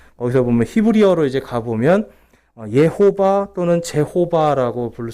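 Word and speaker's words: Jehovah: 그래서 거기서 보면 히브리어로 이제 가보면 예호바 또는 제호바라고 부를 수 있는데 정확한 명칭은 예호바예요. 제호바는 이제 영어식으로 와서 제호바고요. 정확한 히브리식 발음은 예호바가 더 가까운 발음입니다.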